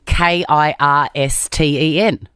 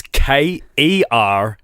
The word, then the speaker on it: Kerstin: Okay, so I'm expecting Kirsten. It was Kerstin.